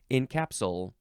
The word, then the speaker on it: encapsule: next is encapsule yeah there's no there's no late at the end there's no Ed at the end it's just encapsule uh this is a